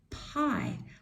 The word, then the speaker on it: pie: So I'm going to cross out the E because that is silent. And this one says its long sound. So now we're ready to read the word. P, I, P, I, P, I, pie, pie.